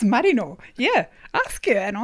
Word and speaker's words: Marino: with the name like mine which people often mispronounce as mourinho like the sheep yeah and mourinho yeah moreno oh marino yeah like that yeah in sydney and i